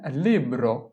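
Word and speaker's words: libro: কলম এরপরে হচ্ছে বই বই এর ইতালিয়ান হচ্ছে লিব্র লিব্র এলইবি লিব এর ওর লিব্র এল ইবি লিব এর ওর লিব্র লিব্র অর্থ বই।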